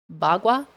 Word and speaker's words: bagua: Bagua? B-U-G. B-A-G-U-A. Bagua. Yeah. Like gua sha, that's also Chinese. Bagua. There's a body, or is it a body map? There's a map you can get. The Bagua map.